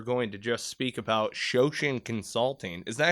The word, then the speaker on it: Shoshin: that we were going to just speak about shosen Consulting is that how you pronounce it yeah that's it now how how'